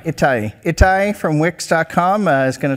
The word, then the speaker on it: Ittai: Ittai. Ittai.